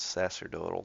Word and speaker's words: sacerdotal: Sacraments, sacerdotal class. Wait, let's see if it's a hard C. It's a soft yeah, it's a soft C. Sacerdotal. Yes, a long O.